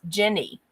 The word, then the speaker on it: Jenny: But her name is Jenny, like gin and tonic, gin. I know I have a weird accent, but it's like that pronunciation.